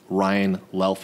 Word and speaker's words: Luelf: have a very very special guest we have Ryan laughs am i pronouncing that right well yes that is correct